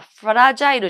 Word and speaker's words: fragile: にこれは言ってくださいねで発音がフラジャイルジャンプフラ状なので一緒に